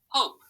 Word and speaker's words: hope: word hope good and why did we have to put this e on the end if we just set it there by itself it would say pop but we have to put the e to make i heard a long o so i have to put that e there to make it have that long sound all right let's try